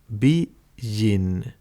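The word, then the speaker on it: 美人: Chà, hai chữ kanji này được đọc là BIJIN, "BI", chữ kanji đầu tiên, tôi nghĩ tôi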